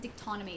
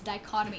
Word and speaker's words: dichotomy: word wrong dichotomy dichotomy i always call it dictonymy it's dichotomy in reality liz it's